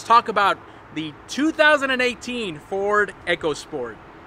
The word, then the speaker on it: EcoSport: with this SUV and they are instructing us to pronounce it as eco sport so these vehicles have